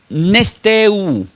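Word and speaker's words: νηστεύω: La palabra, esta palabra ayuno, queridos hermanos, esta palabra ayuno del griego se pronuncia como nesteu.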